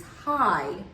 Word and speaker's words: high: And when we spell with IGH, the GH is silent and the I is a long vowel sound. So here is my example of spelling with IGH, and the word is high.